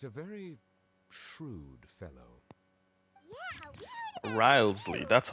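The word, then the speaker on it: Wriothesley: Fortress Risley he's a very shrewd fellow yeah rley that's how you pronounce his name Duke right correct he is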